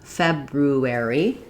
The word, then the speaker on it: February: Firstly, we can pronounce it like it's spelled, February. That way has two R sounds, just like the two letter R's in the word.